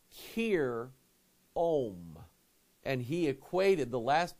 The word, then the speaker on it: Hiram: But Pike said that we're saying his name wrong, and the Bible has his name wrong. That Hiram isn't really Hiram, it's Kir Om.